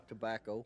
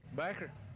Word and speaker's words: tobacco: Tobacco. While others say... Backer. Now, this explanation should clear things up. Most of us call it backer, but it's pronounced tobacco.